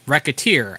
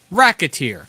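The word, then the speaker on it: Recettear: However, the title is pronounced racketeer, as in racketeer, considering you are running a shop and doing what you can to make as much money as you can.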